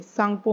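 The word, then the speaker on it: Tsangpo: क्योंकि इसमें T silent है। सांगपो में टी साइलेंट है।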